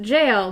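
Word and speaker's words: gaol: English from jail to jail so it is pronounced jail but it's spelled in Australian English just the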